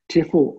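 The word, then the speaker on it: Tefal: tough the tefl and i look at that mispronounced it's t-i-f-a-l tiffal optigrill so this is basically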